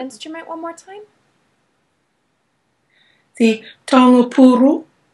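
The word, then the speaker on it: taonga pūoro: How do you pronounce the name of that instrument one more time? The taongapuru. Taongapuro.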